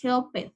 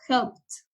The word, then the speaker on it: helped: Es decir, aquí no vamos a pronunciar helped, sino helped, como si fuera la T, helped.